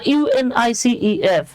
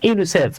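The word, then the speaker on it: UNICEF: করে উচ্চারণ করা হয় আপনি কিন্তু কখনোই বলেন না ইউএন আই সিই এফ বরং আপনি এটাকে ওয়ার্ডের মত উচ্চারণ করছেন ইউনিসেফ এই যে আমরা পড়ে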